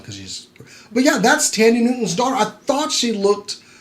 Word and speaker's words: Thandie Newton: I gotta say, and that was Nico Parker, daughter of Thandie Newton. Really? Or Tandy Newton. The H is silent because she's... But yeah, that's Tandy Newton's daughter.